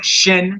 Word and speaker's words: shin: sound as in she it's called a shin like your shin bone shin and uh 300